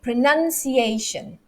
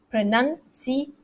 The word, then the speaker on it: pronunciation: word is pronunciation okay pronunciation pronunciation that's actually five five syllables there and the stress falls on the a pronunciation it's on the it's on the fourth syllable pronunciation okay if you